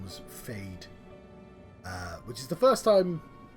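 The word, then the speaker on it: Feyd: He doesn't really look that much like Sting, but he does remind me of Sting from Dune, whose name was Fade, which is the first time, like, it's almost on the nose as a name.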